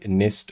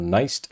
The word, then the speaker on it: NIST: you know created by nist or Nest depending on how you pronounce it and they essentially set